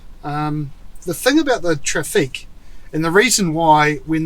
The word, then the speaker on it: Trafic: the traffic and yes i am putting a weird french kind of accent on the end of that spell traffic t-r-a-f-i-c so i don't know if they really call it a traffic but it's french so it sounds good this is the mid-size